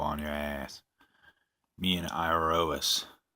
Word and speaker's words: Iroas: your ass me and iro us I believe is how you say his name I rose he is God of